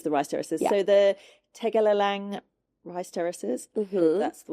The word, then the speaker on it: Tegalalang: So the Tegalalang rice terraces. Mm-hmm. That's the way you pronounce it.